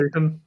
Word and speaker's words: Cision: And she said, well, then you need to get in touch with, how do you pronounce it? Sison? And Cision.